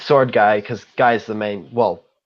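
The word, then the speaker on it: Sword Gai: which I should clarify it's spelt G sword G AI as in cuz guy is the name of one of the characters I thought it was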